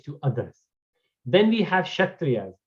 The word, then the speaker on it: Kshatriya: Then we have Kshatriyas. Kshatriya actually starts from K is silent.